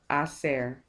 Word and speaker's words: hacer: So the first off, in order to ask that, we have to say, ¿Qué prefieres hacer? So remember again, the H is silent.